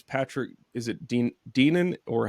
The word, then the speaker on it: Deneen: And I think it's Patrick, is it Deenan, or how do you say his name, Ben? Deneen.